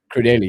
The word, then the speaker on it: Crudelli: Is it Anthony Crudell or Crudelli? Crudelli, yeah. I'm saying it wrong.